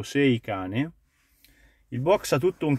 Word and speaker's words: Seicane: descrizione nome e caratteristiche io lo pronuncio in italiano poi la pronuncia inglese La vedrete voi è scritto sei cane il box ha tutto